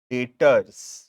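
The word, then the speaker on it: debtors: यहां पे बी जो वर्ड है ना वो साइलेंट है। ठीक है? लिखते हैं डी ई बी टी ओ आर एस। बट जब प्रोनाउंस करते हैं उसको तो वो बी जो अल्फाबेट है उसको साइलेंट रखते हैं और प्रोनाउंस करते हैं डेटर्स डी ई टी ओ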